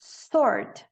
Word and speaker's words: sword: resign, resign, resign, sword, Sword. Esquece o W.